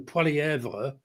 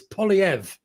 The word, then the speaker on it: Poilievre: Because every time I call him Pvra because as you say Canada is a bilingual I get told it's polyv yeah it doesn't he he doesn't use the so polyv polyv okay